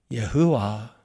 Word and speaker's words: 여호와: 여호와 여호와라고 발음하는 바로 여호와입니다.